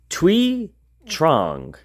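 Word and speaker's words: Thuy Trang: Ranger was played by twe Trang so I looked up how you say it uh that's her name and she played Trini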